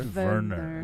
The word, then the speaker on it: Werner: Verer, pronounced Verer.